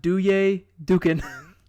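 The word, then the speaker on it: Duje Dukan: do like dr d it's pronounced do yay dukin dukkhin he is a small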